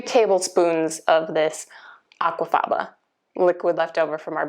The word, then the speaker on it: aquafaba: If I'm saying it correctly, it's aquafaba. It's spelled aqua plus F-A-B-A.